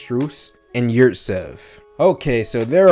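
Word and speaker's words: Strus: max what's his name strews i think that's what's pronounced strews and yurzev okay so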